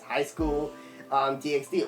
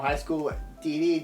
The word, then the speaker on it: High School DxD: Because one of my favorite perverted animes is High School DxD or High School DD, depends how you say it, if you want to say the X or not.